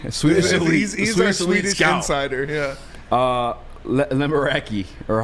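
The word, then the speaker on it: Lekkerimäki: Lemeraki, or how the hell you say his name? Lekaramaki. How you say it one more time? I apologize. Lekaramaki.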